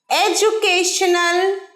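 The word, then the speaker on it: education: সাথে what is your এডুকেশনাল কোয়ালিফিকেশন এডুকেশন আছে তো একটা ডি কিন্তু উচ্চারণ হয় বর্গীয় জয় এর মত এডুকেশনাল এডুকেশন ডি এর উচ্চারণ হবে বর্গীর জয় এর মত মনে থাকে যেন এই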